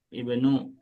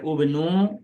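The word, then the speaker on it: ابن: ismu, ismu, ibnu, ibnu. Jadi jangan baca ubnu ataupun usmu ya.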